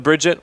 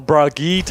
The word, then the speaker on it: Brigitte: They're probably going to have Fogbodge on the Bridget, which they now do. Or Brigitte, as it's correctly pronounced.